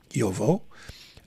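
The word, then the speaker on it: Jowo: changed they're now with Joel or yovo as I've been reminded to pronounce yovo they have Yobo nibs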